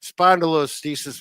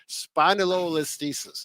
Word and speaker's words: spondylolisthesis: Spondylolisthesis, which I have, less than 5% of the